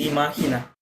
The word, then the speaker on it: imagina: ইমা, এটার প্রোনাউন্স কি? ও আচ্ছা, এটা হচ্ছে ইমাহিনা।